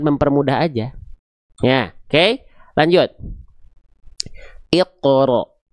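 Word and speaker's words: اقرأ: Iqro. Iqro. Jadi bukan iqro monyong ya.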